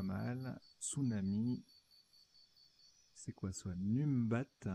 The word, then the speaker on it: numbat: Numbat. Alors, ça se prononce Nombat.